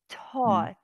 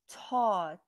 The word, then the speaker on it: taught: thought but thought really taught yes taught draw torch taught not thoughts it's what it's a t in the beginning and a t in the end and it's printed all